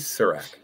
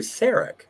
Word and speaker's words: Sarek: to replace Surak, because McCoy refers to Mrs. Surak as opposed to Sarek, and there was going to be some sort of situation between the pronunciation of Sarek and Surak.